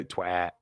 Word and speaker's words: twat: Only a Yorkshireman can say twat right because we pronounce both T's.